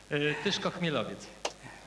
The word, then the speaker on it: Tyszko-Chmielowiec: Tyszko-Chmielowiec. So you heard the pronunciation right.